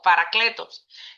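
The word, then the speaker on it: παράκλητος: Y cuando dice otro consolador, viene de una palabra griega que se llama, que dice eh se traduce como eh se pronuncia como paracletos, que significa otro igual de mi misma naturaleza.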